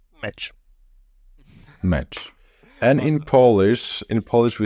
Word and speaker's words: meč: And how do you say that in Slovak? You say it meč.